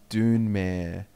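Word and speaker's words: Dunmer: this or something and he was saying how to pronounce things and it's saying like zlamar is like dwayne i've already seen that don't get me started done doner is dunemere and kymon camel what's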